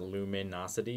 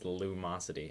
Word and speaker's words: Lumosity: correctly by the way it's not Luminosity it's Lumosity and I can't say